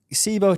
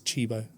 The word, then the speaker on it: Cibo: So, I always I wanted to ask you, is it SIBO? Chebo. How do you say it? Chebo. A lot of people say uh kbo sibo. We've had loads of like different, but it's chibo.